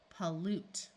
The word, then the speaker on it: pollute: So here we have a short O sound, and this U is underlined because it's going to have its long E sound, a long U sound from the silent E. Pollute.